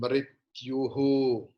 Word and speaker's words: मृत्युः: Jatasya hi dhruvo mrityuhu.